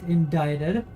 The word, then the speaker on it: indicted: like you're an idiot they changed the spelling but not the pronunciation idiots